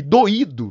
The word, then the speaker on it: doído: Se eu não acentuar esse i aqui, eu tenho que pronunciar igual a esse cara aqui, ó, doido. Não, não, não, não, não. Do, i, do, tá?